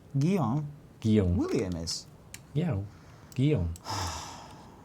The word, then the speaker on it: Guillaume: Guillaume in French. Guillaume. Guillaume. Oh, yeah. Guillaume in French. No. It's Guillaume. My brother's. Ed. My cousin's called Guy. William Guido. in French is Guillaume. Guillaume.